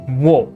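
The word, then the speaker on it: を: in japanese we use the o particle and this is pronounced o it's a special o because technically speaking this is actually whoa w-o but pronounced oh when used as a and i think it's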